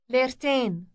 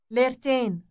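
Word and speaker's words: ليرتين: It sounds like English ten, but with an elongated vowel. Listen to the word for two lira. Lertain. Lertain.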